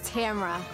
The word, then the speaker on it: Tamara: be here longer and the correct pronunciation of my name is tamara all right for all